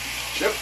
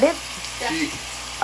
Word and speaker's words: chef: Chip cook? Chip. How to pronounce that? Chef.